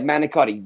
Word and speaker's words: manicotti: tube right yeah yeah manicotti basic Bas yeah why do they say it like a manicot manot that's a slang that's just a Italian American slang James how how are